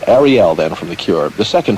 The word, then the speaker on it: Arielle: pronounced Ariel this is actually spelled Ariel but Arielle then from the Cure